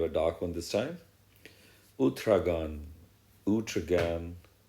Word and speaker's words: Uthragan: Uthragan. Uthragan. Or, yeah, I think more appropriate according to my understanding and pronunciation capabilities is Uthragan.